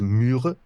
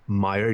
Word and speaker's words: Myre: The correct pronunciation is Myre, M-Y-R-E, Meyer, you'd say in English, but Myre is the closest like what's it called what does that mean?